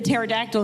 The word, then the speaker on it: pterodactyl: Why can't you hear the pterodactyl in the bathroom? Because the P is silent.